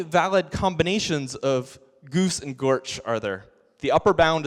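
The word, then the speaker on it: GOARCH: What is the official pronunciation of Go ARCH? Gorch.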